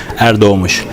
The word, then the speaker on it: Erdoğmuş: So if you really want to try to pronounce, this part is like dough, as in bread, the dough that you make bread from, and this letter is sh. Okay, so you can try Erdoğmuş.